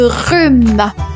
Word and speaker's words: rhume: On enchaîne 47e mot je vous parle de rhume. Le rhume un rhume et ça s'écrit r u m e le h et mué.